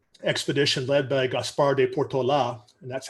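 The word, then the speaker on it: Portolá: when the spanish expedition led by gaspar de portola and that's how it's pronounced portola came through the area in 1769 they crossed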